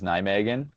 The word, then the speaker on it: Nijmegen: Yeah, so I would I would pronounce it as Nijmegen. Uh but but uh the Dutch kind of have like a like a an H sound on the G, so it's like Nijmeche.